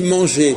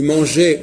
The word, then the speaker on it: manger: entend la consonne et comment ça se fait que quand on dit manger on n'entend pas le r c'est logique parce que